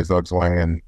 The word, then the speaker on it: Zugzwang: So I guess you'd say Zugzwang and you know, would be the American pronunciation of it.